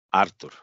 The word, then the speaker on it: Артур: Артур, на А ударение, понял, Артур.